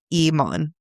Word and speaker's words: Iman: It is Iman, where the second syllable is like fawn.